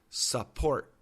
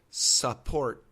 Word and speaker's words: support: short u s support support but most am Americans don't say support we say support support support very short